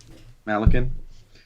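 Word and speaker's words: Malykhin: Malakin.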